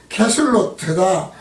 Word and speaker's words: 그술롯: 그술롯으로 음역을 한 것은 히브리어 발음으로 하면 게술로트다. 게술로트로 뜻은 비옥한 땅, 후한 선물, 경사, 언덕입니다. 그리고 히브리어 게술로트를 헬라어에서 카살롯으로 번역을 했고 카살롯의 어원은 신뢰라는 뜻이죠. 그러니까 그술롯은 어원이 신뢰에서 시작을 해서